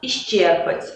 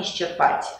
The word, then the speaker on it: исчерпать: Гражданство, завидно, исчерпать, а не исчерпать.